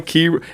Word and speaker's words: Kyra: How you doing, Kyra? Hey, how do you say your name, sis? It's Kyra. Kyra. I always say Kyra.